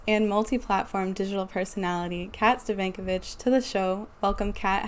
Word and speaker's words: Stefankiewicz: digital host actress and multi-platform digital personality kat stovankovic to the show welcome kat how are you